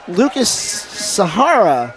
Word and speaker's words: Lucas Sahara: Lucas Sahara, that's how it's pronounced.